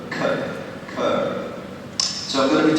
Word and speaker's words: Kerr: Kerr, and I want you to be clear that that is how you pronounce his name. It is not Kerr, as so many people in Thailand say. It is Kerr. Kerr.